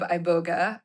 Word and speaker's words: Iboga: Iboga. Iboga. Iboga. So the emphasis on the second syllable.